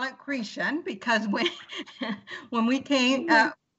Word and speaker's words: Chrétien: she calls the name Christian and I call it chrétien because with when we can't yeah so the she's pronouncing it the French Way but it's spelt CH